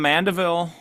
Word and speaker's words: Mandeville: So, you're from Mandeville, Louisiana, which we and I'm pronouncing that correct, right?